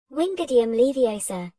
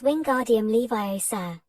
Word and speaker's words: Wingardium Leviosa: "Wingardium Leviosa," he shouted, waving his long arms like a windmill. "You're saying it wrong." Harry heard Hermione snap. "It's Wingardium Leviosa, make the gar nice and long."